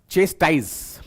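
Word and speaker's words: chastise: आपके सामने ये रहा चेस्ट टाइस प्रोनाउंस आप इस प्रकार करिएगा ठीक है चेस्ट ऐसे प्रोनाउंस आप करेंगे 1 मिनट रुकिएगा जरा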